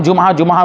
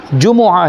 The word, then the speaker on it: جمعہ: میں رکھیں گے کہ ہم جمعہ بول دیتے ہیں، لیکن حقیقت میں عربی لفظ ہے یہ، اور عربی میں اس کا جو تلفظ ہے وہ ہے میم پر بھی پیش، جیم پر پیش ہے، میم پر بھی پیش ہے۔ جمعہ ہے عربی میں، جیسے عام بول چال